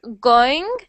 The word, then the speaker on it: going: Instead of saying like going going, I want you to make it two separate syllables like this. Going. Like there's a W.